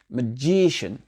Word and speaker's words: magician: Magician. Parfait. Et le CIN, ça fait shin.